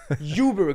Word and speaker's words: Uber: And her name was Uber, so that's why we say Uber Cup.